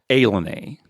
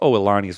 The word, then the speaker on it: Ilani: Yeah, that casino, it's spelled I-L-A-N-I, but it's pronounced Ilani. Right, we've kind of talked about it before. So if you didn't know and you looked at it, you'd think, Ilani, but it's Ilani.